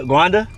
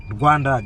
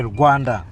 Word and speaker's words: Rwanda: Guanda. Rwanda. Just say Rwanda.